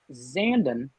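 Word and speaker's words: Zandon: in a zandum zen zanden like brandon that's how i learned how to pronounce it stand in or messier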